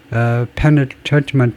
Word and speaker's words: penultimate: 액센트 위치가 지금 어떻게 되냐면 이 발음을 좀 들어보겠습니다. Penultimate. penultimate, ultimate, penultimate, penultimate, penultimate. Last but one in a series of things, second last. 예, 이게 마지막에서 그 앞에 있는 거, 그게 penultimate. 예, ultimate의 발음, 액센트의 위치가 거기에 있네요.